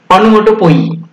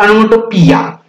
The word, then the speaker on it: onomatopoeia: Now let us see the 8th figures of speech, that is onomatopoeia or onomatopoeia. In both way you can pronounce.